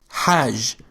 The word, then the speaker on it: ح: The sound Ha is pronounced deep in the throat and has no English equivalent. It sounds raspy, similar to the sound you might make when trying to fog up a glass by breathing on it.